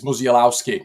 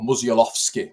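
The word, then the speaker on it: Musiałowski: yeah another one is melowski now uh or musovski as I've been told that we need to PR pronounce that name and the Liverpool front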